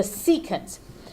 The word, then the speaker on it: secant: today we're gonna talk about tangents cousin the secant I know it spelled sick can't that's right